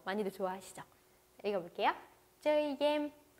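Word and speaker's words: game: 쩌이 겜. 네, 게임을요 발음을 겜 이런 식으로 베트남식으로 발음을 해주시면 더 좋습니다. 자, 읽어볼게요. 쩌이 겜.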